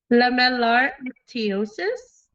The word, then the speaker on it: lamellar ichthyosis: Lamellar ichthyosis. Lemon. It's Yeah. Leminar. I'll let you pronounce it.